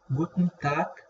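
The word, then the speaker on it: Guten Tag: ونلاحظ إن ال AN اللي في الآخر ما بننطقهاش، يعني ما بنطلعهاش، بقنا بيبقى مقفول فيها. جوتن تاك زي ما تقول كده بتطلع من مناخيرك، وتاك الجي الأخيرة هنا بتتنطق كي خفيفة.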